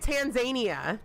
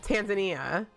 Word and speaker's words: Tanzania: He was pronouncing it Tanzania. Tanzania. Like Tasmania, but Tanzania.